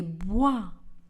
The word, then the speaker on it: bois: Et le S dans le mot bois ne sera pas également prononcé. Je marche dans les bois.